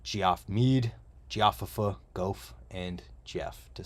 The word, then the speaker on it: Geoff: rad what's up Geoff Mead geoffifa Golf and Jeff to say it properly definitely check this one